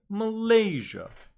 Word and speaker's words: Malaysia: Stress on the second syllable, making it Malaysia.